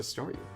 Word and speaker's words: Staryu: Starmie's still just a Staryu. Could never pronounce its name right. I always end up sawing like saw you.